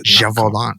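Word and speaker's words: Gévaudan: But after say it again, Gevaudan. That's Gevaudan.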